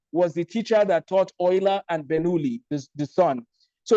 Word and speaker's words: Euler: Now, I don't know if the teachers on this call have studied the life of Leonhard Euler, but Euler, spelled with the letter E-U-L-E-R, Euler, some people call him Euler.